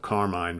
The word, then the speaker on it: Carmine: From what I understand, Appice is the Italian way to pronounce the name. You know, because Vinny, his brother, always went by Vinny Appice, but Carmine very early on started calling himself A Piece.